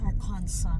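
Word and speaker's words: Arkansas: Academy beside arkansa University arkansa daw na arkansa at arcas mm silent s arkansa University Okay oop so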